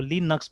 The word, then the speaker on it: Linux: नहीं बोले, तो देखिए, तो देखिए ये लिनक्स, ठीक है, ये प्रोनाउंसिएशन यहाँ पे बता रहा है कि आपको लिनक्स बोलना है, ठीक है, देखिए यहाँ पे भी लिनक्स बोल रहा है, लाइनक्स नहीं बोल रहा है ये।